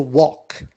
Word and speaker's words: walk: And we have another verb which is to walk. L is silent and the past becomes walked.